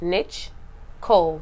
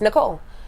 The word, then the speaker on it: Nichcole: should talk about that ni CH niche cold but it's Nicole okay that's how my